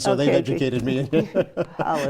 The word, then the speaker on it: challah: Oh, challah. Oh, challah, that's how you Challah say it. bread, I never can remember how to say that. I have Jewish friends, so they've okay, educated me. Challah, It's delicious.